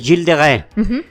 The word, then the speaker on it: Gilles de Rais: en el año 1403 se llamaba jills de re jills de re jills de re se escribe hilles de Ray hilles de Rise yo he visto que ris sí Bueno gills de Rise de Rise o gillis de Rise pero ese es jil de re él él nació en